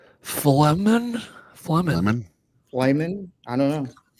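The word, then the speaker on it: Flehmen: How do you pronounce that? I have no idea. It's Flemen.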